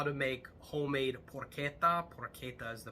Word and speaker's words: porchetta: Pasta grammar uh how to make homemade poretta pora is the pronunciation I've never seen this video you're going